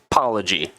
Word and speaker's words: Palhegyi: studio with me an awesome dude named Jeff poy got it that's right pronounced it right yes I actually right before